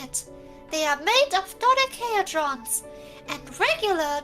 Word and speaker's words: dodecahedron: They are made of dodecahedrons, and regular dodecahedrons at that.